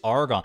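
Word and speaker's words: Argonne: though Haley cactus fruit the name of the song is argon is just argon it is admittedly it's spelled a-r-g-o-n-n-e so it's like it's like a female version of argon but I was like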